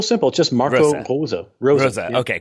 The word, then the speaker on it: Rose: just Marvel pulls up Rosa okay called out Rose not Marco Rose Rosa yeah you know every single syllable must be pronounced in German you know you can't